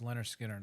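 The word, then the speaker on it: Lynyrd Skynyrd: to listen to um Leonard Skinner pronounced Leonard Skinner I'd love Leonard Skinner's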